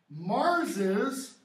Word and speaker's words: Mars's: Shakespeare writes, Mars his sword. All right? But that's not how it's pronounced on the stage. On the stage, it's pronounced Mars's sword.